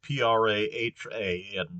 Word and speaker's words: Praha: And so this explains why, for instance, Prague is spelled with an H in Czech. That in German the city is called Prague with a G at the end, but it's Praha in Czech.